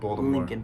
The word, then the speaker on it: Leakin: So Lincoln Park, or Leakin Park, is how it is spelled, Leakin, but pronounced Lincoln Park, locally.